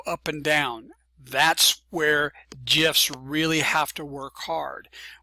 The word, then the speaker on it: GIF: Uh Steve Wild, uh Steve Hillight, Willilhight, the creator of the GIF at CompuServe, says the name with a soft G like giraffe.